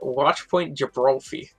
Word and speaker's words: Watchpoint Gibralfie: Western Washington Vikings, and I think we decided it's pronounced Watchpoint Gibralfie. I believe that's right, and if I had